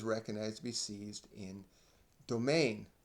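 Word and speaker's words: demesne: to be seized in domain now the word reads dements because it is spelled d-e-m-e-n-s-e but is pronounced but is pronounced domain or in another case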